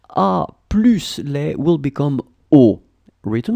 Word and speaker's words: aux: A plus les will become au, written like that, A-U-X. But you don't pronounce X, so au pied.